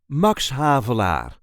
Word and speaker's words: Max Havelaar: There is a light emphasis on the first syllable of the second word. Mox havar mox hav mox havlar mox havlar.